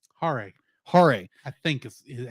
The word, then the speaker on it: Hare: Hare, Hare.